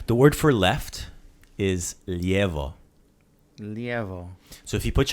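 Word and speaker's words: lijevo: say it did though left is Leo Leo I also heard Leo that's that's a shorter way of saying it right so Leo is proper Leo is the quick maybe dation cheaters way and I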